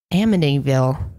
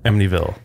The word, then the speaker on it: Amityville: process is figuring out exactly how to say a medieval a medieval a medieval it's like a silent T kinda sort of yeah